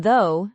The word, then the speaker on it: though: But as a site word pattern like in though, the gh is silent.